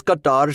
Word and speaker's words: Qatar: But yeah, but he first cutter. It's pronounced cutter cutter. Well, my Indian friend says Qatar.